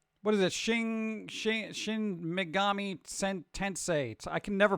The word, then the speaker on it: Tensei: I should be able to say Tensei. I keep wanting to say Tinsel.